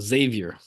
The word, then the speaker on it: Xavier: I've always said that just with the straight Z sound, Xavier.